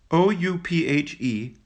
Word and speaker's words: Ouphe: Footnote: Ouphe, pronounced Ouphe, is an old-fashioned word for goblin or elf.